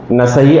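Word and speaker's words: النسائي: ఇక్కడ ఒక విషయం చెప్తాను చాలా మంది దీని రాయడంలో ఉచ్చారణలో సున నసాయి అంటారు నసాయి అని స కు దీర్ఘం ఇస్తారు వాస్తవానికి పేర్లు అక్కడ మీరు అరబీ పదంలో గనుక చూసినట్లయితే వాస్తవానికి ఇక్కడ దీర్ఘం ఉంటుంది నసాయి సా కు దీర్ఘం ఉంటుంది కానీ ఉచ్చారణ అనేది నసై అనే జరుగుతుంది నసయ్యి అనేటువంటి ఉచ్చారణ జరుగుతుంది ఆరవది సునన్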